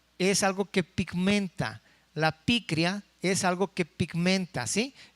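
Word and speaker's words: πικρία: Porque la palabra amargura viene de una palabra griega que quiere decir, o que se pronuncia como picria, y quiere decir que denota amargura y se relaciona metafóricamente con una condición extrema de maldad.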